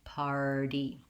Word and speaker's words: party: correct r in party so try er r r par and then finally party so i'll re rewrite that like par d the stress is on the first syllable so i have time and length to say my par to get my r diphthong party then i have a light touch on the party um other words like